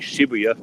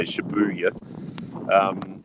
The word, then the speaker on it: Shibuya: Like if anybody's ever been to Tokyo before and you know where Shibuya is, as people like to pronounce it, it's actually Shibuya, but people like to say Shibuya.